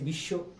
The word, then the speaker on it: বিশ্ব: কিন্তু উচ্চারণ করতেছি পদ আমরা লিখতেছি স এর নিচে ব মানে স এর নিচে ব কিন্তু উচ্চারণ করতেছি বিশ্ব এইজন্য রূপের সাথে অমিল